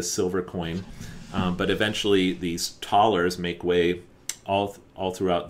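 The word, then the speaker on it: Thaler: taller and of course the german th would be pronounced taller and taller technically in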